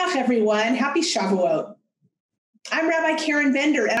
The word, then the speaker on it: Shavuot: this wonderful festival so what is shavuot which many of you call shavuos the yiddish pronunciation chevilus or shavuot is